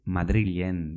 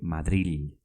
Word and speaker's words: Madril: zarete, Madrilean bizi zarete, Madrilen bizi zarete. Aquella chica y tú vivís en Madrid. ¿Pero cómo se dice Madrid en euskera? ¿Se dice Madrid? No, se escribe Madril, con L, Madril.